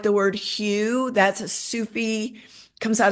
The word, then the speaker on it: Hu: I like the word hue. That's a Sufi, comes out of Sanskrit, but it's a Sufi word for God Oh, I like that. or oneness. Hue, sometimes pronounced who, and you just let that roll inside of yourself.